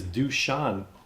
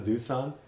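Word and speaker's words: Dušan: wait so this is Sasha lukic that means this is dushan Tadich have I been reading his name wrong the whole time du Sant like everyone says doosan but it's actually dushan dushan Tadich and Sasha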